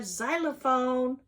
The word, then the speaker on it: xylophone: Capital X and little x is for xylophone. That's a funny sound at the end, isn't it? At the beginning, isn't it? Xylophone. Doesn't even sound like x. X says x.